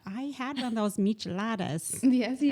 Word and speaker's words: michelada: So at the end, and I don't like the taste of beer, but I had one of those micheladas Yes, you right did.